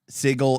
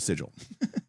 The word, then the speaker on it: Sigil: you know um is that that um they pronounced it as sigle in one of their later videos well they can name their project sigle whatever they want they can call it sigle but plcape called it sigil um so if you've been watching the show